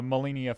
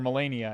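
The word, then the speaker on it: Malenia: of the molini uh molinia flight fight in uh or melania i think it's pronounced melania fight in um elden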